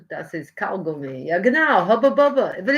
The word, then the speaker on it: Hubba Bubba: It's called HUBBA BUBBA. We Americans pronounce that American bubble gum hubba bubba.